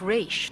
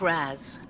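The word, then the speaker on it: Ra's: Father's name was pronounced Raish, not Raz. A common mistake.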